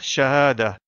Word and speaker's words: شهادة: Ici donc, si on s'arrête à la fin du mot, on le prononce Shahada.